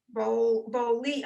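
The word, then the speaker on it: בּוֹלִי: So it's the lamed with one dot under it. E. Yeah. And then the yud after it, which is really silent. So boli.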